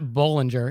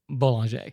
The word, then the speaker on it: Bollinger: And it's not Bollinger, it's Boulanger.